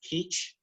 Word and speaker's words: kij: language they're called peach it's kij but it's pronounced quiche and the shumash language